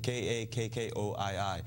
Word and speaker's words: Kakkoii: I mean cut Courtney the name of the restaurant is called Cucuy it's three syllables Kakori kak KO III it actually means ku